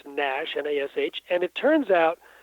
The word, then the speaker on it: NASH: Uh it's pronounced nash n-as.